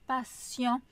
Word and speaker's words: patient: Donc en anglais, on retrouve le son comme dans patient, mais en français patient hein, on prononce le t comme un s.